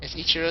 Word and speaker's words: Ichiro: okay ichir okay okay you just didn't say it properly so I was like who are you talking about am I supposed to play it say it it's Ichiro Suzuki wait that's what I